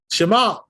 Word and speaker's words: Shema: Shema. Right? That's right. Not Shema. That's no good. Well, you know, like an A sound, you know? Shema. No good. They're putting the accent on the first syllable and not Also at the true, end.